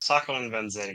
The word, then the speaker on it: Sacco and Vanzetti: One of the big inspirations for Metal Gear was Sacco and Vanzetti. Did I mispronounce that, Joe? Sacco and Vanzetti, yeah, that's good.